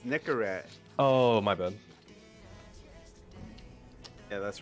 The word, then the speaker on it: Nicorette: I'm drinking my Coca-Cola oh it's pronounced Nicolette oh Nicolette sorry like the like the Nicolette gun oh no it's Nicorette oh my bad yeah